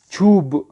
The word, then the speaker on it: چوب: کیونکہ چوپ نہیں پڑھیں گے بلکہ فارسی تلفظ میں چھی چھو، چھو سے پڑھیں گے چھوب.